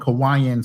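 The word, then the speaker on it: Cauayan: spelled with a C but pronounced with a K and it sounds like you're living in Hawaii. It's called Kawaiian City.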